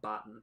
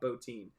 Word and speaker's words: Bottin: So it's not Rob Bottin, it's Rob Bottin, even though it's spelled Bottin.